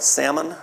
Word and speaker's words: Salmon: what's not biblical but we but Hebrew tradition states that one of those two spies was named uh pronounce it right Salmon or s a l m o n salmon